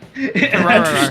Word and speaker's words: Terraria: I know the proper pronunciation is Terraria, but I watch British YouTubers all the time, and they say Terraria, No. so it sticks in my head.